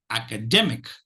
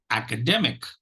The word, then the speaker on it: academic: them will get the the third syllable will get the primary stress and the first syllable will get the secondary stress so this the now